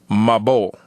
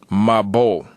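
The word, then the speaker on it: מבול: And that would be in Hebrew spelled Mem Ba Wa Lamed. And that would be pronounced as we, learning the Hebrew that we learn, Mabol. Mabol.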